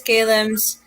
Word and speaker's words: Kalem: this is Kalem's bio. So, known for her artist name Kalem, and I'm pronouncing it correct this time, is a visual Yes, artist that's and correct.